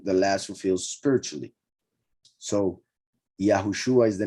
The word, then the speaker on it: Yahushua: here Yeshua and here Yahushua shows that this Shin Ayin is pronounced as if it had a vav between the two letters, and that makes it Shua, not like some people pronounce it, Yahusha.